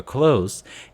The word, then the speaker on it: clothes: rather clothes clothes clothes be careful with this word in particular clothes in English is a two syllable word clothes in Korean we'd like to make into three civil clothes or clothes or cloths which is more sensible if we read it but clothes brothers